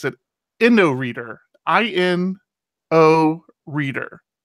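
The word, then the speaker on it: Inoreader: exactly what I need so I'm now an endo reader fan I've already moved all my dig stuff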